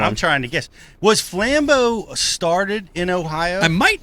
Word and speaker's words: Flambeau: Actually, it's funny you say that because so we say Flambeau. That's the proper pronunciation.